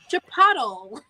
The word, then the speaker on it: Chipotle: You know, go on with that Chipotle, and you're like, it's Chipotle.